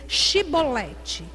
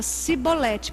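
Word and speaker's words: Chibolete: Então assim, dize pois Shibolete. Quando eles iam falar, eles não conseguiam, falava Sibolete. Por quê? Porque a língua, foneticamente, ele não conseguia pronunciar.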